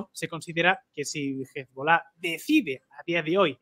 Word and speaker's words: Hezbollah: lo estamos viendo, el líder de Hezbollah, o Hezbollah, como dicen algunos, este señor está súper preparado,